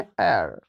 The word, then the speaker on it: heir: ठीक है, अब इसको देखो, ये जो वर्ड है HEIR, इसको हम लोग पढ़ते हैं एर, एर, यहाँ पे एच है बट एच का उच्चारण नहीं है, एर यानी ई जो